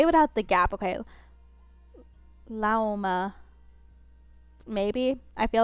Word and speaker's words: Lauma: Lauma, just say it without the gap. Oh, okay. Say it without the gap. Okay. Lauma.